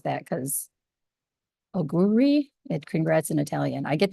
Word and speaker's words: Auguri: Auguri.